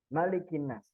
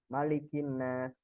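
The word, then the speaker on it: مَلِكِ النَّاسِ: Jadi yang membedakan secara bacaan Bapak Ibu sekalian, di dalam surat An-Nas ini bacaannya hanya boleh dibaca pendek ya. Malikin Nas. Tapi kalau di surat Al-Fatihah itu bisa dengan dua bacaan.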